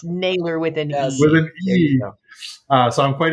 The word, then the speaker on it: Nayler: people mispronouncing my name and yeah y'all still spell it wrong so it is Naylor with an E doesn't take nothing away from this interview except one thing it's nailer within us so I'm quite easy to find